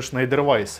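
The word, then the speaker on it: Schneider Weisse: второй Шнайдер Вайс кстати возможно правильно читается Шнайдер Вайс это у нас Тап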